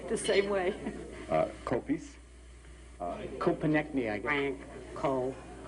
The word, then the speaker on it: Koppeis: of apple pies it's co- pies and they sort of pick that up pretty easily uh the last part of the name rhymes with pie Cai hi Frank Cai